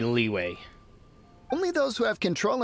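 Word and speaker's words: Liyue: Leo shiing Leo okay why do the foreigners pronounce it Leo I'm going to go with leeway only those who have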